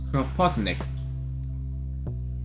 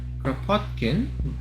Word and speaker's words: Kropotkin: And I got the idea straight from the library itself, from the works of Peter Kropotnik. Peter Kropotkin? The anarchist? Kropotkin? You even butchered his name.